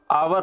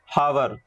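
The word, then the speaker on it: hour: एन का क्यों इस्तेमाल करेंगे, यहाँ पे एच जो होता है ये हम नहीं पढ़ते हैं, ये आपका साइलेंट होता है, इसलिए आपको आवर पढ़ना है ना कि हावर।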